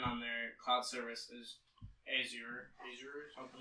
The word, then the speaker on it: Azure: Yeah, It's Azure.